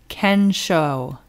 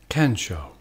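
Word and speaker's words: 見性: japanese term from the zen tradition and it's ken show ken show and can means seeing and show means nature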